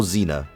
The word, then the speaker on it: Zener: And Zener, because it could be Zener or Zener? Zener. Zener.